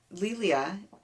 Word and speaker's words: Lelia: was really a thing lilia she has on her site that it's it rhymes with emilia uh she is a